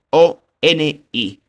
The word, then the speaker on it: ONI: Lo pronunció ONI.